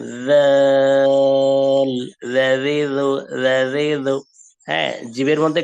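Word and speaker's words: ذال: Soft করে আমরা যে উপরে সা পড়েছিলাম, সা পড়ার সময় জিভের আগাকে বের করে দিয়েছিলাম, দাঁতের সাথে উপরের দাঁতের সাথে টাচ করে জিভের আগা বের হয়ে গেছিল, সেখানে বলেছিলাম সা, সফট করে সা। ঠিক সেম জায়গা থেকে হবে জাল। এটাকে জাল বা জাল বলা যাবে না, সফট করে নরম করে বলতে হবে জিভের আগা বের করে জাল জাল জাজিজু জাজিজু।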